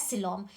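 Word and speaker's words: coelom: This is cavity which is known as सिलोम।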